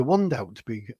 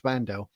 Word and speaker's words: Wandelt: I'd be quite worried if I was Julia Wandelt or Vandel. I keep saying it wrong. Danny did correct me. He said it's Vandel.